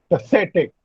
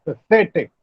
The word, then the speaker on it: pathetic: Apologetic, biological, pathetic. Now look here, pathetic. It's pathetic. Pathetic. The stress is on say.